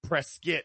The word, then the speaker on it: Prescott: And shout out to Vic Joseph cuz when they were up in and it's spelled Prescott, but it's pronounced because it's someone's last name, Prescuit.